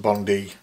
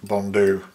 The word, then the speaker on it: Coch-y-Bonddu: Now you may know that it's spelt with a U at the end, and many people pronounce it Coch-y-Bonddu, but I have been corrected many times by Welsh fly tying friends that it's pronounced Bonddu, not Bonddu.